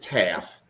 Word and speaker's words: Taff: So, it's Taff. Bummer. According at least according to Google's AI, it's T. All right, we'll go with Taff if that's how it's said.